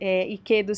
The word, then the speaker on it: Ikedo: e Quedo em todas as redes, Iquedo se escreve I-K-E-D-O.